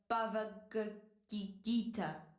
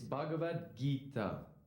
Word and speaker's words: Bhagavad Gita: great authors with the bava gagikita i'm sorry i know i'm not pronouncing that that name right your attempt at pronouncing the sanskrit language was noble it's bhagavad gita why don't you try